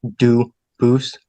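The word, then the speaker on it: Dubose: They do pronounce it dubis, but you said you pronounce it dus as the original duboose as the original French.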